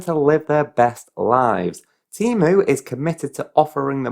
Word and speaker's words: Temu: the first few weeks I was pronouncing it TAMU and it was only when going on their website and seeing that they've got the pronunciation as Teemo that starts saying Teemo